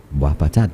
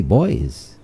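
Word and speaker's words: Boispatat: out of the ordinary if you say wapat but for somebody who doesn't know the little idiosyncrasies you know and they see it written down b-o-i-s-p-a-t-a-t they'll say boys not understanding that b-o-i-s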